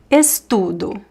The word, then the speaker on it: estudo: All these words, they are stressed in the middle, right? So there is a movement that goes up and then down.